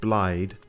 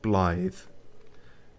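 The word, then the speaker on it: Blaidd: the character said it it sounded like he said blide it's actually pronounced blithe and i think it is a welsh thing uh so yeah anyway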